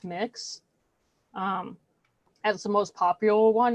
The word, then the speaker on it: Mx: So one that is used that's gender neutral is MX, and it's pronounced mix.